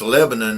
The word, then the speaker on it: Lebanon: It's pronounced Lebanon in Tennessee. It's Lebanon over across the ocean, but yeah, once you start doing that Lebanon.